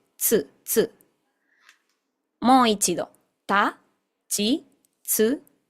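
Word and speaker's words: つ: Este tsu es literalmente una te y seguido de su. Tsu, tsu.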